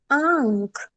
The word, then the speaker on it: आंख: Next है आ plus चंद्र बिंदु plus ख, उच्चारण है आंख, आंख।